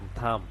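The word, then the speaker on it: thumb: Same একই রকম টি এস ইউ এম, থাম, এখানে বির উচ্চারণটা আসে নাই, থাম।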